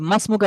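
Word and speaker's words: ما اسمك: এটাকে আমরা মিলিয়ে পড়ি, তাহলে সেক্ষেত্রে ইসমুনের শুরুতে যে আলিফটা আছে, সেই আলিফটা উচ্চারণে আসে না, কিন্তু লিখতে আসছে।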